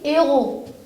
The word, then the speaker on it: héros: ce mot au pluriel je vis les héros je lis les héros je ne mets je ne fais jamais de liaison je ne prononce pas